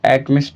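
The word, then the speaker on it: alchemist: L silent कर लो तो एकमिस्ट हो जाएगा। एल्कमिस्ट तो बहुत कम पढ़ते हैं। एकमिस्ट ज्यादा पढ़ते हैं।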